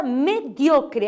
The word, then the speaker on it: mediocre: Aí tem a palavra mediocre, a sílaba tônica é dio, em português é medíocre.